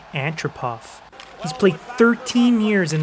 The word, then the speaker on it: Antropov: that's right boys nick freaking andropov or how you properly pronounce it in russian nick antropov he's played 13 years